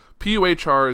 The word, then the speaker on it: Puhr: It looks like Puhr, like an animal a cat make.